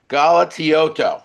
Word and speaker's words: Galatioto: His name is Sal Galatioto. I want to get that right. 4 syllables there.